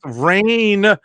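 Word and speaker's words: Rahne: It's pronounced Rain.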